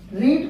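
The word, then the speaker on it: read: फिर इज के बाद फिर देखिए यही बीइंग, बीइंग, फिर वर्ब का थर्ड फॉर्म, रीड का थर्ड फॉर्म, स्पेलिंग वही होता है, केवल उच्चारण चेंज किया जाता है, रेड।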